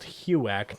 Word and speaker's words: HUAC: uh huak where they they absolutely butchered it because they're British they don't know they don't actually know it's it's the house on American Activities Committee that's why it's called HUAC not whatever the